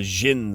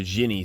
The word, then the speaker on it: Djinn: of all time is the Djinn system or the Jinni system or the Djinni system, however you want to pronounce it. D J I N N, if you pluralize it there's an I at the end for Jinni.